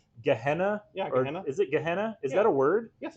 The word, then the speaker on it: Gehenna: Also coming out tomorrow, I've really enjoyed this book called I still haven't figured out how to pronounce it, by the way. Gehenna? Yeah, Gehenna. Is it Gehenna?